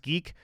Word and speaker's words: GIQ: Now, I had to do a lot of research outside of GIQ, it's pronounced geek, to get that information.